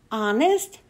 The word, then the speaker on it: honest: "Honest?" asked Seth, jumping up out of his seat. "Sit still, Seth. That's a good guess, but honest starts with a silent H."